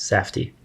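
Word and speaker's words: Safdie: josh and benny sadfi safti safty that's what's pronounced yes safti there are two brothers who are directors and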